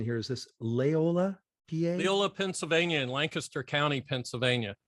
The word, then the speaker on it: Leola: And Bill, help me out with the pronunciation here. Is this Leola, PA? Leola, Pennsylvania, in Lancaster County, Pennsylvania.